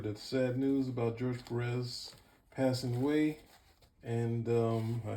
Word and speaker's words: Pérez: also modern masters george perez oh george perez sorry this you please excuse me for mispronouncing accent on the e it's pretty simple to